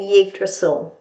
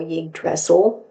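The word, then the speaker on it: Yggdrasil: one really interesting and yig drle this is one of my very favorites in the whole deck or yig dressel whichever way you wish to pronounce it so there's some of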